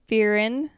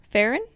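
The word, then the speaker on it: Ferrin: nice uh an unknown man attacks Darlene firen and Mike Mongoose Darlene Farren and Mike Michele yes that's how you say it what did I say don't matter how do you say it Baron Farren Farren all right anyway so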